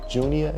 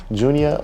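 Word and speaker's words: Juneau: But yeah, that was pretty cool to have someone call me all the way from Junia, is that how you pronounce it? Junia, Alaska?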